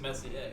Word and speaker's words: Messier: Which we don't even know if we're pronouncing Messier correctly. I think it is. I think it is Messier.